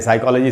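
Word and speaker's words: psychology: अब हमें सभी लोग जानते हैं साइकोलॉजी सब्जेक्ट होता है, तो यहाँ पी एस से शुरू हो रहा है, तो यहाँ पी साइलेंट होगा।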